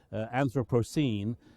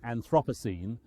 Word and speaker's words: Anthropocene: are structured like this anthropocene preferably not anthropos anthropos is in the same family of words as anthropogenic anthropology anthropomorphic and so we shouldn't pronounce it anthropos which is often What's Done in Britain I have a criticism